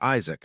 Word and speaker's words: Isaac: My name is Isaac, not Isach, as you keep saying.